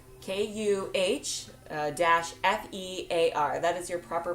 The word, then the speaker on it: kefir: So some say Kefir, some say Kefir, but the Kefir, but the actual pronunciation is Kuh-fear, Kuh-fear.